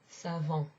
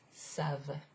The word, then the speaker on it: savent: it ends with ent, you don't pronounce it like this. It's not savant. No, because that sounds like another kind of derivation of the verb savoir. Instead, it's savent.